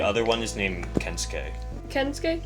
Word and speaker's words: Kensuke: Kensuke? Did I pronounce it right? Yeah.